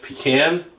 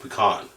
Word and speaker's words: pecan: I went with pecan. I didn't say it already. Okay, I went with pecan or pecan. How do you pronounce that? Pecan, pecan, pecan. Both ways.